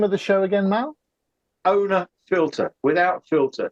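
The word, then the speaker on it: Ohne Filter: sure it's where um it is spelled a uh sorry it's spelled o h n e it's it's a German program it was done in baden-bye was the oh sorry owner filter um and uh if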